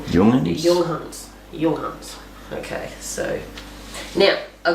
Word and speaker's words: Junghans: I know that they sound the J like a Y, so I'm going Junghans.